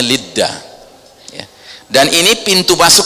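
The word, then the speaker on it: לוד: Dalam bahasa Ibrani dibacanya Lidda, ya.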